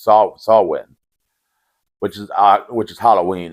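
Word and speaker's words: Samhain: can only appear on Sam ha which actually pronounced saw swin which is which is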